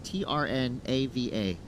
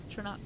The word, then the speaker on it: Trnava: His hometown, a little hard to pronounce here because there's only 2 vowels, Trnava. Trnava? That's what I was thinking. I was also trying to practice that. Trnava.